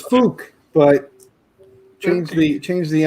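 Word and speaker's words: Phuc: like that i mean pronounce it like that name is fook but change the change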